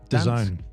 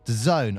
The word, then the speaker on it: DAZN: How do you say it? Dads? DAZN. DAZN. All right. Yeah. DAZN. Looks like DAZN, but DAZN, but it's like DASZ. DAZN. Oh, DAZN. Is it DAZN?